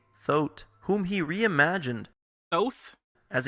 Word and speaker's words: Thoth: He is saying it wrong, so it is Thoth.